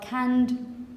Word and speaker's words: canned: In pronunciation, this is the last sound you make. So, to can, canned food. Canned. Because the last sound you make, which is this one, it vibrates.